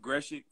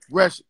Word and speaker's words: Grzesiak: How do you pronounce it? Grzesiak. Grzesiak, okay. Grzesiak, yeah.